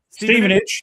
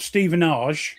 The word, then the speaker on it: Stevenage: Stevenage. Yes. Stei, John. Great. See, they like the time. Ste, not Stephenage. No, Steven. It's Stephen.